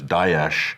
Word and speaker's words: Daesh: There's Daesh, which is more accurate. That's the Arabic one. Then there's, I think, David Cameron, Dash, and then there's Dash, and then there's Obama, which is Dash.